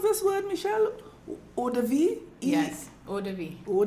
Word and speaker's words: eau de vie: But something here I read say is a blend of, how you pronounce this word, Michelle? Eau de vie?